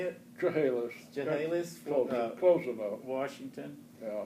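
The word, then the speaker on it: Chehalis: from chahalis Washington how do you say it chahalis chahalis closing up Washington yeah it's close and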